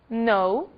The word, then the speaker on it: know: As letras G e K não são pronunciadas quando seguidas da letra N. Apenas o N é pronunciado.